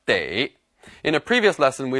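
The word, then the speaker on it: 得: is also pronounced but here it should be pronounced day in a previous lesson we learned that this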